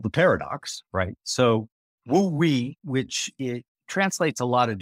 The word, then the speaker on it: wu-wei: Yeah, so the concept, so ’Trying Not To Try’ is about this concept pronounced wu-wei in Mandarin.